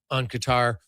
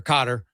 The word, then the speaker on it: Qatar: You had to get up on Qatar or Qatar. Depends how you want to pronounce it. I think Qatar is the actual right way to say it, but either way, that is obviously a huge goal for Canada.